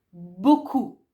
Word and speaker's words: beaucoup: Beaucoup, beaucoup. Ah, non dite beaucoup, dite beaucoup, P finale.